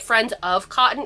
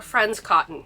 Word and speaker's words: Friends Cotton: I keep calling it friends of cotton. It's just friend cotton or friends cotton. I always say it wrong.